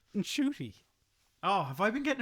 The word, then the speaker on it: Ncuti: Apparently Ncuti Gatwa has been pronouncing it incorrectly the whole time. Oh no. And his mum told him off. Oh, there you go. Look. So apparently it's not Ncuti, it's Ncuti.